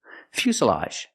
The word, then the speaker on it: fuselage: The s is a true s plus the short sound. Uh fusa. Fuselage.